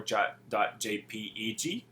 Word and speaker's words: JPEG: It can be .jpd or .jpeg.